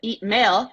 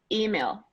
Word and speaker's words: email: here that most resilience they tend to stress email the wrong way but just the stress so sometimes even the L comes out fine but the problem is is that eat mail instead of like email mm-hmm so I'm gonna send